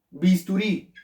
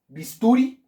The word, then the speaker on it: bisturí: ¿En dónde se acentúa cuál es la sílaba tónica de bisturí? ¿Última, penúltima o antepenúltima? ¿Cómo decimos? ¿Bisturí? No. ¿Bisturi? No, ¿cierto? Bisturí. Ah, muy bien, excelente. Entonces, esta es la sílaba tónica. Quiere decir que esta es la última, vean.